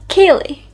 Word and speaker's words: Ceilidh: A Kaylee. Even I can struggle to say it sometimes, but it's called a Kaylee. A Kaylee.